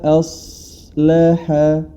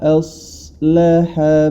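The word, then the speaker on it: أصلح: Nah, alifnya ketika masuk dia ke huruf shad, jangan sampai a-nya ini tidak sempurna. A, wa, a, wa, a. Ya, jangan sampai dibaca wa, a, o. Ya, nanti dia tebal. Tapi dibaca sebagaimana semestinya. Wa, as, wa, a, wa, aslaha, wa, aslaha balahum.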